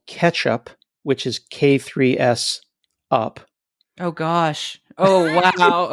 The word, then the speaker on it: K3s: It's not K8S, it's K3S? I say K3S, or I've heard K3s.